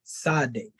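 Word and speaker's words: Tsade: Almost, yeah, like Sade. You know, so the T is really silent. Okay, yeah. You know what I'm saying? Yes, sir. But yeah, that's basically, you know, when they pronounce it, in most cases, they pronounce it as Sade.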